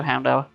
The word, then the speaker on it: Houndour: So, Houndour, or never quite worked out how to pronounce his name. If you go on several different sites, everyone calls him something different, so I'm going to go Houndour. Because it's Hound and then Hour.